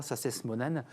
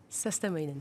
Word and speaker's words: Sastamoinen: Et j'accueille Alexandra Sastes-Monen. Je ne sais pas si je l'ai bien prononcé. Sastamoinen. Prononce toutes les lettres. Sastemoyen. Sastamoinen, c'est parfait.